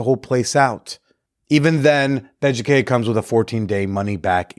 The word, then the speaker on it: Beducated: Beducated. It's spelled like educated, but with a B, because, it's for stuff in the bedroom.